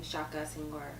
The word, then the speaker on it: Shaka Senghor: What influenced you to change your name to Shaka Senghor? And I hope I'm pronouncing it correctly.